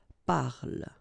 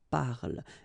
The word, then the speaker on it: parle: So elle parle, parle. And then the last thing here that you will hear is the l, l, l.